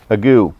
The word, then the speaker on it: ague: Ague. Oh yeah, ag. Okay, here, I got it. I found it. Got my nice dictionary. It's pronounced ague, a fever like that